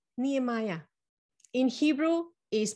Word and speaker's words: Nehemiah: today we meet a guy called nehemiah in hebrew is pronounced nehem ya ya comforts ya stands for yave and nehemiah